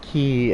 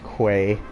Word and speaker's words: quay: also today I learned it's pronounced key and not Quay oh double experience cuz